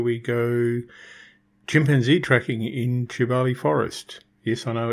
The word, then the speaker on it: Kibale: in Africa where we go chimpanzee tracking in tubali Forest yes I know it's built k-i-b-a-l-e but it's pronounced jubali I got up early and went and sat